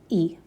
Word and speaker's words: y: But if you see it by itself, it means and. And so it's just pronounced E.